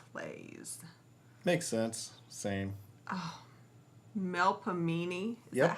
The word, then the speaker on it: Melpomene: Oh, Melpomene.